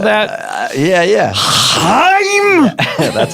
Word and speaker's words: Haim: You have a lot of cool guest stars in the video, like Haim. Do they like to be called that? Yeah. Haim. That's how they pronounce it.